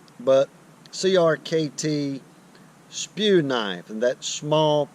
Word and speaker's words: CRKT: River Knife and Tool, not to be pronounced cricket, but Crkt Spew knife, and that's small pocket everyday Warncliffe.